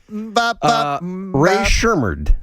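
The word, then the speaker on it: Rae Sremmurd: Ray Shermard. I'm pronouncing that name correctly. You are pronouncing it correctly.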